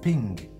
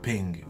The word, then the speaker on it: PNG: JPEG but good but the Creator had intended for it to be pronounced pink so the PNG images should actually be pronounced pink which yeah it's kind